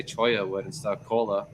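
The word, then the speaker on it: cholla: Cola, like I called it cola forever until the guy's like, choya, huh? You want to look at this? Huh? Ain't that fun? Some choya wood. Huh? So I'm like, oh man, that's how you say it.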